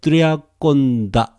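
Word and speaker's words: τριάκοντα: Eton, O-C, eton, triaconta, tria, okay? As it is written, triaconta. In modern Greek, conta becomes weaker. Triaconda, like this. Triaconda, accent here.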